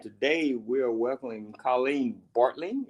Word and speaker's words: Bartling: we are welcoming Colleen bartling is that how you pronounce your name correct that's right that g that silent G gets everybody the silent so how